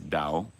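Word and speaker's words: 道: It's just like, you see Tao as a Western English speaker, and you you have one pronunciation for that. You have another if you're Chinese. It's Dao, D.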